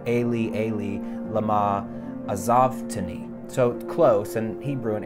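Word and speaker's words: אֵלִי אֵלִי לָמָה עֲזַבְתָּנִי: is a translation of this Hebrew line in Psalm 22, which is pronounced Eli, Eli, lama azavtani.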